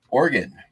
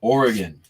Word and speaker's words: Oregon: could go either way those people are wrong it's not arguing it's an o it's oregon argon is an element on the periodic table its abbreviation is ar whereas the abbreviation for organ is or should give you a hint on pronunciation oh yeah gravity goods